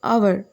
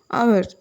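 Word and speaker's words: hour: sound வந்து சைலெண்ட் ஆயிடும் for example ஹவர் இதை நம்ம வந்து ஹவர் அப்படின்னு சொல்ல மாட்டோம் ஹவர் ஹவர் அப்படின்னா ஒரு மணி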